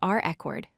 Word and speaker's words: record: The stress falls on the first syllable, re. We say it is reCORD, with emphasis on that first syllable.